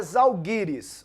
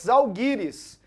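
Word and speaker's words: Žalgiris: Cup hein paqueto então a pronúncia correta do time da Lituânia é zalgiris OK fechado uma pergunta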